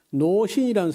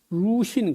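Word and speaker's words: 鲁迅: 중국 발음은 턴두슈 그다음에 노신이라는 사람인데 루신 그래요.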